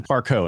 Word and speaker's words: Parcaut: And I went to Parcaut, and I got a lot of from that, but it's the French pronunciation of it.